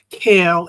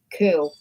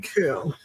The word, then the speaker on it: Kairl: No, this is Kale. Is it How do you say your last name? Curl as in like Okay. Curl. Yeah.